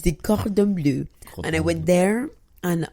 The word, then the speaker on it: Cordon Bleu: How do you say it in French? Cordon Bleu, c'est ça.